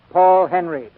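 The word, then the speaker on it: Henreid: in many a day he pronounces his name Paul Henry he and Ida Lupino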